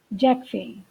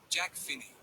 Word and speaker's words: Jack Finney: Jack Finney. And yes, as usual just because it's a foreign word, listen to the pronunciation of his name. Jack Finney.